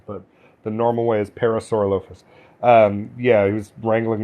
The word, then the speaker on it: Parasaurolophus: that's a parasaurolophus or if you want to pronounce it that way but the normal way is parasaurolophus um yeah he was wrangling that did they